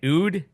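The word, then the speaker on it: oud: an instrument called a I'm gonna screw this up in an UD yes correct and so tell us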